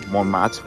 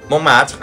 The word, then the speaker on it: Montmartre: We're at Montmartre, I think that's how you pronounce that.